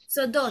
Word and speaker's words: סודות: Ehamri so dot Sodot, it's sudot secret. so Secrets. dot Nachon. yeah the pronunciation I wanted to hear it Sodot.